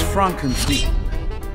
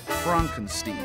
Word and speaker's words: Frankenstein: That's Frankenstein. My name. It's pronounced Frankenstein.